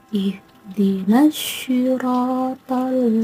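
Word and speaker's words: اهدنا الصراط: Cara membacanya dimasukkan ke dalam huruf shad. Ihdinas syiratal mustaqim. Huruf nun disambung dengan alif, dan ada alif lam yang disambung dengan shad dan ro. So-nya itu membacanya dari nun langsung masuk ke shad, maka disebut idgham syamsiyah.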